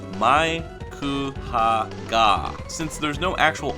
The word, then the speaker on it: Haggar: typically roll their R's, it would be pronounced in Japan Maiku Haga. With the chanpu at the end of the last name, it causes a long A sound, proving at the very least that the last name is pronounced Haga.